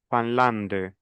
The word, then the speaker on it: Finlande: Entonces tengo IN, nasalización, yo digo la Fanlande. Pronuncio la D, la E final no.